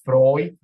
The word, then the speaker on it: Freud: Entonces, es como los alemanes, los diptongos EU se pronuncia OI, entonces esto es Freud, OI, Euler.